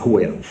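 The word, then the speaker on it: Huayra: Et oui, effectivement c'est et ça se prononce Hira.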